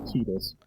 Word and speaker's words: Tidus: And even then, we'll still argue about them because who wants to pronounce it Tidus?